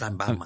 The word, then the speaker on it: Sheinbaum: So Mexican President Claudia Sheinbaum, very Mexican name. Wow, that was racist of you. That's a very Mexican name. It's pronounced Sheinbaum.